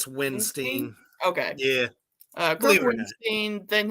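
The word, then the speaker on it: Windstein: How do you pronounce his last name? Weinstein? It's Winstein.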